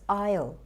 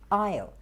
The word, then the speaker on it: aisle: pronounced incorrectly and it the right pronunciation is isle isle and that's you know